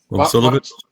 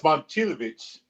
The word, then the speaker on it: Momcilovic: How do we say Eminem's name? How's his last name pronounced? I've said it 8 times. Momcilovic? No, it's Momcilovic.